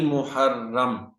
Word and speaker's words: محرم: پہلا قمری مہینہ ہے۔ اس کا تلفظ یوں ہے: میم مسموم یعنی میم پر پیش ہے، ہا مفتوح ہا پر زبر ہے، اور را مشدد را پر شد ہے، ساتھ زبر ہے، یعنی محرم۔ بسا اوقات یہ لفظ